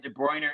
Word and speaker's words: De Bruyne: Kevin De Bruyne. Kevin I'll D. spell it for you. Kevin, and then De Bruyne is De, and then Brune.